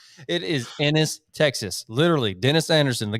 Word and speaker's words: Ennis: happened in in where spins how did you pronounce it last weekend oh my gosh it's um is it anus it is innis texas literally dennis anderson the guy watching in